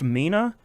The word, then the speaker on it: Mina: Um, remind everybody it's pronounced Mina. I've I have heard some people pronouncing it in real wild ways online. It's just Mina like a person's name.